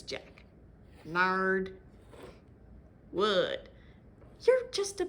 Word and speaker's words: Jacques: And I know the title spells his name as Jacques, but in the books it's pronounced as Jack.